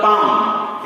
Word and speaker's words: palm: words we will control we are not going to speak or pronounce l okay for example palm it is p-a-l-m the